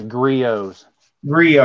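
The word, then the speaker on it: Griot's: that right now it's griot z3 oh yes yep the T is silent Rossetti n yes has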